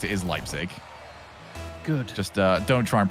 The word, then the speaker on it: Leipzig: It is Leipzig. Good. Just don't try and pronounce the...